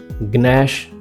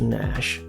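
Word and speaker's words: gnash: gate no इट्स नैट गनश नो इट्स नश गस्टिक इट्स नस्टिक ग्ना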